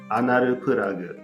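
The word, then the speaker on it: アナルプラグ: and we just use we do like an Japanese pronunciation of the English word anal plug. Okay. So that would be anaru plug.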